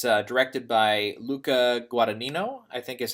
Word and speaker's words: Luca Guadagnino: But it's directed by Luca Guadagnino, I think is how you pronounce his name.